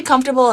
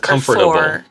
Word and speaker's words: comfortable: So, do you say comfortable in three syllables or comfortable? If you say comfortable, that's a four syllable. Comfortable. Comfortable is three.